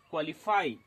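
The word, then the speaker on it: qualify: उसी प्रकार से क्यू यू ए एल आई एफ वाई क्वालिफाई same as quite इत्यादि।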